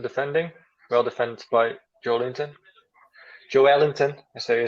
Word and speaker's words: Joelinton: Joelinton, as they say in Brazil. That's actually his real name, how you pronounce it.